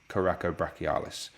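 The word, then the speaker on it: coracobrachialis: it like that because it's called coraco brachialis which is potentially a wordy name but you break the word down it's coracoid process onto the brachi or the arm so what do we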